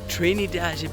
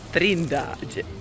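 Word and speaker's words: Trindade: Today, we're going to the Trinidad beach. Correction, the pronunciation is Trindage.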